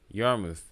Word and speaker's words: Yarmouth: I bet you it's probably pronounced as Yarmouth. I'm willing to bet it's probably pronounced as Yarmouth. Almost certain of it. Because remember, the dominant language outside of English in Canada is French. So it would not surprise me if that's how it's pronounced.